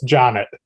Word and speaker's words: Jonet: last name wrong it's janet john it looks french but it's not okay janet from